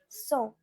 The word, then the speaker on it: cent: Now for 100, it's cent.